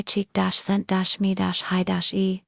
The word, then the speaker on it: Csikszentmihalyi: The Hungarian psychologist Mihali 6 in Mihali often pronounced mihi cheek-sent-me closing parenthesis called it flow.